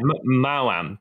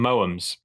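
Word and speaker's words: Maoam: That is apparently Mao-am. How you say it. Okay. But for some reason, when I grew up, I always called them Moams. That's just wrong. Yeah, that is definitely wrong.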